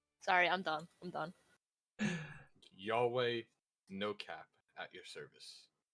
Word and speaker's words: Yahweh: say so you could yes my name is yahweh yahweh how do you spell that y a h w e h w